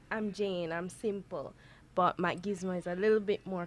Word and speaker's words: Macgizmo: I know how it's spelled, so what I'm going to do is, you're Jane what? Macgizmo. Macgizmo. Yes, Macgizmo.